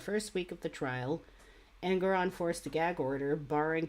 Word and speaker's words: Engoron: Pronounce. Whatever. Arthur Engoron.